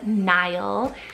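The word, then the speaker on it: Nyle: Nile, spelled N-Y-L-E, Nile.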